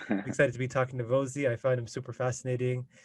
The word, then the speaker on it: Vozhi: I'll be talking to Vozhi. Rhymes with cozy. I was mispronouncing it all this time, so that's my fault. Excited to be talking to Vozhi.